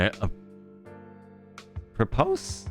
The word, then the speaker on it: apropos: And a propose of nothing. Huh? How do you say those words? Hold on. A propose? A propose? Apropos. Apropos. Oh, interesting.